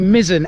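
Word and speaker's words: Misson: or should i say mizzen episode because i did get a couple of comments saying it's pronounced mizzen apparently at the very end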